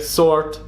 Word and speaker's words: sword: okresie wczesnego nowa angielskiego wiele liter przestało być wymawiane na przykład słowie not w słowie sword oraz gh w takich słowach jak night czy dobre kiedyś pojechać z nią